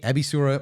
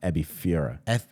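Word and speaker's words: エビフライ: Kishimi, Ebisura, Miso Katsun. It's an F, Ebifura.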